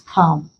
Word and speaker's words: calm: Our answer here is calm. The AL produces a vowel sound. So L is not pronounced here.